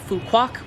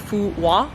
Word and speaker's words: Phu Quoc: In fact, the name of the island, a lot of English speakers pronounce the island Phu Quoc because that is kind of how it's spelled from an English-speaking mindset, Q-U-O-C, we would say Quoc or something along those lines. But I did speak to a few Vietnamese people who taught me that the correct pronunciation is something along the lines of Phu Quoc, so that's what I've been trying to say.